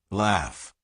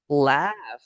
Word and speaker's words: laugh: Because in this word, gh is pronounced like an f.